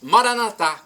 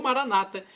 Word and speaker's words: Maranatá: E agora eu clamo do aramaico para o português, Maranatá, como dizemos nós católicos, ou Maranata, como dizem nossos irmãos evangélicos. Não importa a pronúncia, o significado é o mesmo. Vem, Senhor Jesus, um dia ele vai voltar.